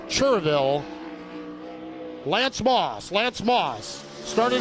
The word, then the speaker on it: Cherryville: speedway from cherryville and yes it is spelled cherryville but if you're in north carolina you will be corrected it's cheerville lance moss lance moss